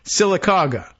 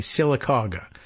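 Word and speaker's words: Sylacauga: to this town in Alabama which is uh silaga is the name of the town I think we even have the pronunciation about right s y l a c a u GA a silaga uh so they'd come to silaga by bus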